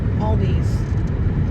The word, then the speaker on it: Aldi: Yeah, not Aldi's with an S. I know I pronounced it wrong. That is a great commercial for them, though. It's not Aldi's. It's Aldi. Oh, there's a fan.